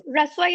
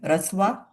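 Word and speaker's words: Rasva: So Raswa is where pharmaceutical science meets Ayurveda.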